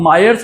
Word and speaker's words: Mayer: topic है मायर्स relation ये मेयर नहीं है ये मायर्स रिलेशन है अभी पता नहीं लोग कैसा कैसा प्रोनाउंस करते हैं कोई मेयर बोलता है कोई मायर्स बोलता है व्ट ever it is okay ट्स नॉट मेयर ठीक है एनीवेज लेट्स